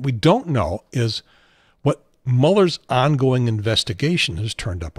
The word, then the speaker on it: Mueller: and by the way it's pronounced muller and not mueller and even though it's